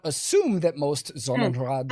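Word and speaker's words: Sonnenrad: In Nazi Germany, the Nazi party, the SA and the SS all used Zonenrad symbology, pronounce that S as a Z there, symbology at times, which has led neo-Nazis and other modern white supremists to adopt such images.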